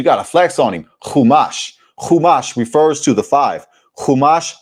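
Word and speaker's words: Chumash: Kumash refers to the five.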